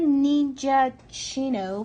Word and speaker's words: Ninjaccino: gonna make myself a mocha ninja Chino from oh that's how you say it from the ninja we